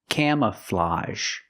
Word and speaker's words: camouflage: this word camouflage again the AG G makes the open Sound a plus the z sound a camouflage the first syllable is a the open a sound like Ma and ham cam C the second syllable is relaxed closed uh Cam camouflage and that AG makes the a sound like in garage and massage camouflage this is camouflage